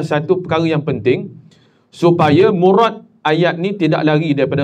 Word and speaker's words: murad: Murad M kalau dalam Melayu ejaannya M U R A D. Tapi kalau R tu biasa kalau kita dalam dalam Jawi ataupun dalam Arab kita baca murad. Jangan murad. Murad nama orang. Murat. Cuma dalam bahasa Melayu ejaannya tetap R a lah. Tapi dari segi lafaz arabnya murad.